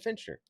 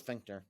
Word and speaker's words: Fichtner: Is this pronounced Fichtner? I've always said Fincher. Fincher. I thought it was Fichtner. Fichtner. Okay, Fichtner. William Fichtner. Corrected.